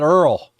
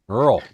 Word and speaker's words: oil: That'd be, or we call it Earl. Earl. You know man. Call it Earl because that's how they say it down there to buy you.